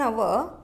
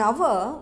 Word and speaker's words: hour: In both the words we have H at the beginning, but in hour we used an because H is silent, but in the second part, a half, H is pronounced as consonant.